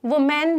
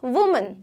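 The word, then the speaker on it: women: अगर आप बहुत सारी औरतों की बात कर रहे हो तब ये हो जाएगा विमेन, वी और मन, विमेन। अब आप बोलोगे विमेन, ओके, वुमेन नहीं होता, वो नहीं होता, इट्स ऑलवेज वुमेन और विमेन, मेन, मैन नहीं बोलते, ठीक है।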